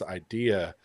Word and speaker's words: Eyedea: Rest in peace, Idea. If you've never heard of this rapper, look him up. It's spelled Eyedea.